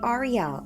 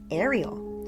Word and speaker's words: Ariel: Quick note here, I know you might cringe when I say "Ah-ree-elle" instead of "Air-ee-ull," but Ariel, the name, means Lion of God in Hebrew.